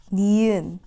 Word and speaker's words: 니은: okay so good girl the second consonant is nyan nyan nyan makes the end sound nyan makes an end sound and so a lot of people say that nyan looks like a nose